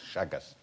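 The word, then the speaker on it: Chagas: How you spell it's actually spelled C H A G A S. Shagas.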